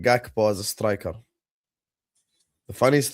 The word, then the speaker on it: Gakpo: So we're going to be like Gakpo as a striker. The funniest thing for me is the fact that K-Mac cannot pronounce Gakpo. He says Gapco.